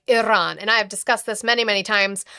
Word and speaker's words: Iran: I can't even can't even talk about uh try pronouncing Iran correct. Why you are not Persian? I'm not Persian, but it is a Persian word. So, I said it like Iran.